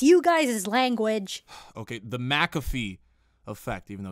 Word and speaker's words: McAfee: call the McAfee effect actually I think it's pronounced McAfee there's no Mac and in just the muck like see it schmuck that's what Google says you've gotta be kidding